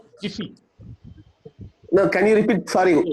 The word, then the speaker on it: GIPHY: लोकमान जी, इसका जो स्पेलिंग है, इसका GIPHY spelling GIPHY not T, it is P for Patna. Jiffy.